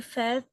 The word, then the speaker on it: fait: Il fait sa liste de Il courses. fait, on ne prononce pas le T final dans ce cas.